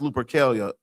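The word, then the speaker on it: Lupercalia: Look up Luperilia's pronounced Lupelia.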